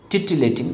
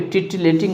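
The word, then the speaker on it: titillating: उसी को जो है टिटिलेटिंग कहा जाता है। इसका स्पेलिंग ध्यान रखिएगा, यहाँ पे टिटिलेटिंग है तो पहले है टी और डबल एल पे आपको स्ट्रेस लग रहा है, टिटलेटिंग, टिटलेटिंग, ठीक है।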